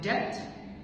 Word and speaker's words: debt: فكده لو عندي BT تبقى ال B silent, like debt, doubtful, debtor. debt, doubtful, debtor. BT, B silent.